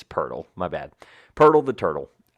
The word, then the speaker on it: Poeltl: new NBA Wordle game, Podel? Poeltl. Whatever. Podel, whatever. No, it's not. No, stop, please. I know. How do you pronounce his name? Say his name. Jakob Poeltl. There you go. Yeah, it's Poeltl.